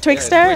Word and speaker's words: Twitxr: thing what's it called twixtor how do you pronounce it richard twitcher twixtor richard twitcher yeah yeah yeah and what is